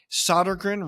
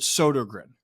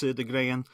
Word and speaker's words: Sodergren: into my own head solder grin right or is it sod grin no you're right the first time it's S I mean technically if you're going with the Swedish pronunciation it's sodan but I don't say